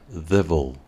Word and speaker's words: devil: primer caso decimos Devil Devil Devil palabra en cuya pronunciación la letra i del final es muda Devil mientras que para